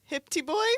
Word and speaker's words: HPT Boy: no, you got to pronounce it. Hipty Boy 41.